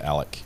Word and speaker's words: Alex: looking for his financials he pronounces it Alec okay well well when